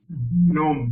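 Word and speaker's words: gnome: song which one song gome g n o m e it's actual word but it is pronounced as gome okay gome gome I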